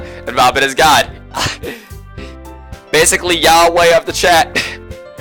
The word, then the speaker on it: Yahweh: begone thoughts um Yahweh Yahweh basically Yahweh is the closest approximation to the pronunciation of God in Christianity YHVH is